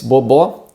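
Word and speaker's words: bobó: words the first is bob bo here we have two different sounds for the letter o the first is bo and the second is bo is a this open o sound the second word is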